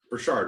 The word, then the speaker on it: Burchard: i have uh burchard right is how you say it yeah cool i probably